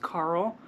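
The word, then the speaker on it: Karel: So, a boy name would be Carell and it's K A R E L, but it's Czech and so it's pronounced Carl.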